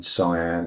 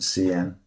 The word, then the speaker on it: cyan: um had an issue where it wasn't saying cyan, it was saying cen. So I've told it how to say that.